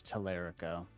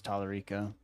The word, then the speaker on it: Tallarico: I always pronounced it as Telerico. That H-bomb video messed me up. Didn't realize it was Tallarico.